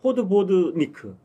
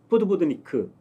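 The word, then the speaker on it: podvodník: 있잖아요 영화다 들 보셨죠 근데 그냥 읽으면 되더라고요 포드 보드니크 포드 보드니크 이렇게더라고 포드 보니 이렇게 기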